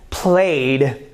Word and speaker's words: played: is plus 3 so you pronounce with a dis ound not with a test sound played ok now let me